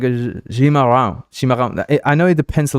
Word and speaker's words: chimarrão: It's more like a Cimarrão, no? Right? Am I saying it right? Cimarrão. It's more like a sh, right? More like it's not really a s. It's like a chimarrão.